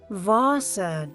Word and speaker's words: Wasser: In German, W is pronounced as V. It sounds like V in English. For example, Wasser, that means water.